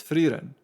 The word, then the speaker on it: Frieren: Okay, so it's Frieren. I'll see maybe other characters pronounce it differently, but it seems like I may have gotten the pronunciation wrong. We'll see.